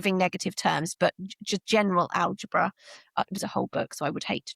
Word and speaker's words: algebra: um sense and then in the 17th century the accent had shifted. So where it was alabar it moved to algebra so the the accent shifted from the second syllable to the first eventually evolving into the